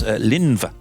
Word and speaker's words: Linfa: Linfa, not a misspelling, it's a Welsh name. I pronounce Linva, in fact.